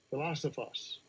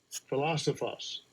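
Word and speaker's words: φιλόσοφος: Yeah, he pronounced. Strong's G 5386. Philosophos. Philosophos.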